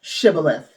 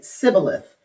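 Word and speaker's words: Shibboleth: Then they would say to him, Shibith. If he was not, if he was from Ephraim, he would say cibilith. Because people from Ephraim cannot pronounce the word correctly.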